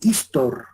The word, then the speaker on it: histor: historia viene del griego histor o del griego historeo histor o historeo se pronuncia tal como se escribe histor sin h historeo sin h Qué significa investigar inquirir